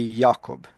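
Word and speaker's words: Jakob: because you would say you would you wouldn't say James, they use Jacob, but in German it would be Yakob.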